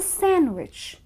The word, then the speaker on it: sandwich: you like it too it's not a sandwich that you eat it's a sandwich where the D is silent and the other day